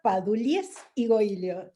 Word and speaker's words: Padullés Igoillo: Bueno, Padulies y Goilio, es catalán. Como yo lo creía que se pronunciaba, perfecto.